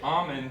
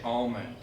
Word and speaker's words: almond: salmon Noel with almond it's the same thing you'll say almond then you won't say the L sound however many many people will say almond oh oh it al l mo ND it's technically not right but oh you wouldn't